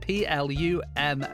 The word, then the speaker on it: Plumb: media as at Ali Plum and don't forget there is a b at the end of his name is p l u m b Ali Plum on all those social medias